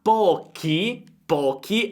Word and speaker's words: pochi: Tra pochi abbiamo CHI perché abbiamo un suono duro, quindi pochi giorni partirà, l'accento sulla A, per fare un tirocinio, tiro C, suono debole, CI, all'ESA.